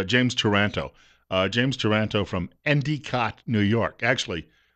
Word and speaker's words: Endicott: They pronounced it Endicott. That's the local pronunciation, Endicott, New York.